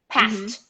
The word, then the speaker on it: passed: two pass no vibration no vibration what happens with no vibration no vibration no pronouns skip it yes and go to t past past past past and